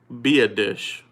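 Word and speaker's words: Biadasz: round pick to pick up the center Tyler be a dish be a dish alright that is the pronunciation I finally looked it up I looked it up in Dane burglars draft guy is Tyler be a dish alright so with Tyler be a dish out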